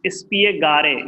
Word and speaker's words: spiegare: Spiegare. It is not silent.